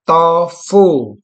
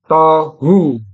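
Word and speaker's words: תֹהוּ: thfu nah ini saudara ini tidak Ada dages berarti saya baca tofu. Kalau dalam kamus ini dia bacanya tetap tohu.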